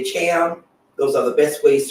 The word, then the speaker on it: Thiam: So my last name is pronounced Cham, but it's spelled Thiam.